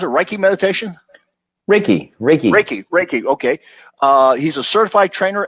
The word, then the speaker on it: Reiki: Is that pronounced Reiki meditation? Reiki.